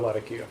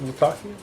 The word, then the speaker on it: Latakia: Latakia? Latakia. It depends on where you want to put the accent on what syllable.